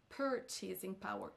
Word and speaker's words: purchasing power: lieu de purchasing power purchasing power c'est sur la première syllabe qu'on accentuera donc et non sur la dernière s'accentue sur la deè